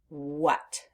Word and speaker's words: what: is that letter A the letter a is making the short u sound uh uh and we don't expect that we expect the a to make the a sound like a short a but that's not happening in the word what so we have the